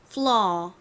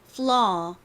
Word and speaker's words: flaw: 그래서 이 단어를 발음하실 때도 flaw, flaw 이렇게 이 부분이 길게 발음이 나고요.